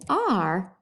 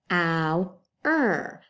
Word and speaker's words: our: But if we take the T off and we put an R, it's now ow-er, hour, okay, hour, okay.